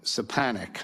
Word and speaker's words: Stefanik: Stefanik. Stefanik. Right, Stefanik, I'm sorry. Yep, that's okay. I butchered your name 3 different times, sorry.